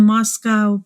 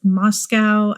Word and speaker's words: Moscow: And the police, the Moscow Police Department, I know they pronounce it Moscow, and it feels better to pronounce it Moscow, but given that it's spelled like Moscow, I don't know, Russia, I'm going to say Moscow most likely, but I know it's pronounced Moscow, just putting that out there.